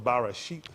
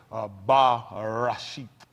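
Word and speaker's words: בראשית: The correct enunciation, if I be correct, or close enunciation, let me say that because I might not be pronouncing it exact, but it's Bereshit. Bereshit.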